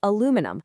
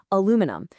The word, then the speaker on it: aluminum: The North American spelling and pronunciation is aluminum with four syllables, aluminum.